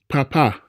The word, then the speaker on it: papá: stress point should lie when it comes to pronunciation. Bebe, bebé. Papa, papá.